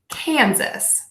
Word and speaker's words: Kansas: states now we have Kansas you can think of this as the word can suss Kansas Kansas Kansas you